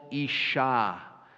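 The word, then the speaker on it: אִשָּׁה: her name conveys equality in the Hebrew it sounds like the word for man she shall be called Isha because she was taken out of each ish Isha and then 24 also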